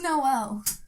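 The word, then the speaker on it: Noël: I know this, and I'm going to not pronounce it right, but it's like Joy Noel or something? No. Oh. It was just Noel.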